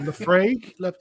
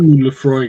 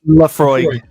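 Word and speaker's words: Laphroaig: Or Lefrague. Ooh, Lefroy. It's a bit. Chris knows how to pronounce it. I can't. Oh, Lefroy. Lafroy.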